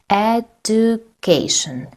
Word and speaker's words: education: Education. Education. The third syllable is stressed, not the second, because education. The third is stressed.